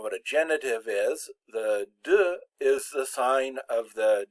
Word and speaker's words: de: Now, it's important to remember that the word de is pronounced de. It's got the short E on it. It's not pronounced de, because that's how D-E-S is pronounced.